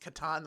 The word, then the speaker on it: Catan: Katan box it might as well be can't pronounced Katan which is the way it said I've read